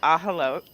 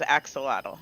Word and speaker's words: axolotl: So it's actually pronounced ahalote, but What? everybody says axolotl.